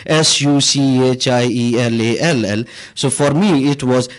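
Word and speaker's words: Sauchiehall: And in German and some other language, you pronounce CHI as SHI. So it was SUCHIELALL.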